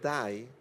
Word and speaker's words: dai: Ahorita, de dai dai, que en italiano significa vamos, vamos, que la pronunciación dai en italiano es muy parecida a muerte o morir en inglés.